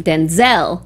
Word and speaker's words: Denzel: the emphasis the emphasis his dad says Denzel with the emphasis on the den and then he pronounces his name Denzel with the emphasis on the zel so it's all about